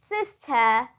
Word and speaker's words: sister: word car system sis sister now don't get countries with this because it's unvoiced but anyways it's sister don't pronounce the r if you want to sound more British although you can also